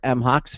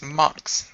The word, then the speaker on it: MHOX: is a partner and lead designer for M Hawks welcome into computer America how are you I'm fine good evening everybody here I am I'm from Mox which is the correct pronunciation and thanks Craig